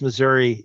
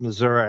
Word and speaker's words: Missouri: And so, a lot of Missouri kids went to Murray State and they would go, "No, it's not pronounced Missouri. It's pronounced Missouri."